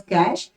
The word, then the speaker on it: cache: high speed memory okay cash memory is pronounced as cash it is a high